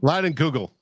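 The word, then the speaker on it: Leinenkugel: Lightning Kugels? It's out of focus. What is that, Yogi? Summer Shandy. Line and Google.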